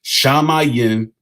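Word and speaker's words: שמים: It's not pronounced heaven in that language. It's pronounced shamayim.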